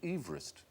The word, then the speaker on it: Everest: No, we shouldn't call it Mount Everest because he didn't pronounce his name Everest. He pronounced it Everest.